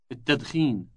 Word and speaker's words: التدخين: التدخين. التدخين. Note the elongated initial T sound.